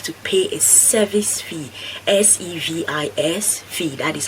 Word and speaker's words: SEVIS: then you have to pay a service fee, SEVIS fee, that is how it's pronounced, a service fee, and then you can book your appointment at the embassy.